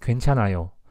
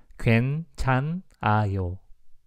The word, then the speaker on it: 괜찮아요: You don't have to pronounce that H sound. Like, you don't have to pronounce this H sound. You don't have to pronounce that one. Just 괜찮아요. 괜찮아요.